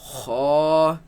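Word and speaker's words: خ: kha, Raise the back of the tongue. Kha, kha, kha. kha. It is incorrect to pronounce this as kha. That is incorrect. It should be heavy. Kha.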